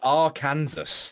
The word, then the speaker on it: Arkansas: There's a fucking S at the end, not a W. It's Arkansas.